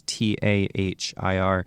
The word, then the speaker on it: Tahir: I'm not going to pronounce her last name properly, but it's, I think, Sabah Tahir. It's Sabaa, and her last name is Tahir.